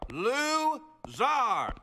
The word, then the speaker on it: Lou Zar: It is pronounced Zar. Lou Zar.